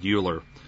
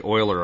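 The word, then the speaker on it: Euler: habit and also because most people when they read it read uler it's actually Oiler I found out so um so bear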